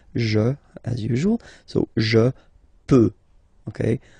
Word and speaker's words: peux: as usual, so je peux, okay? Final X not pronounced here, okay, so you get X but you don't pronounce it, so basically you get the sound peut, je peux, okay, so I can, je peux, okay.